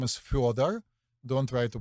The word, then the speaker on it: Fyodor: It's it's Fyodor, but you say it Fyodor probably, right? But it's actually Fyodor. Like Fjord? Yeah, but it's Fyodor. Okay.